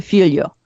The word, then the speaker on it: Filho: It's akin to Filho. Filho.